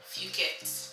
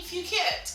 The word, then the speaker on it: Phuket: I would say Phuket. Sorry guys, it was a bit of a... I never heard it pronounced before, so I pronounced it as Phuket outside.